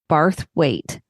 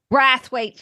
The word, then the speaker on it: Brathwaite: You said it, Brathwaite. Brathwaite.